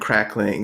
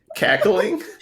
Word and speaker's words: cackling: You said crackling. Cackling? Why are they crackling? Like, what's that? Like the weird cackling. There's no R. Cackling.